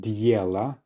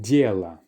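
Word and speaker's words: дела: So it's not dela, and definitely not diela, but dela.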